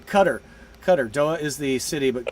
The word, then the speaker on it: Qatar: Qatar. Doha is the city, but Qatar is how you say it.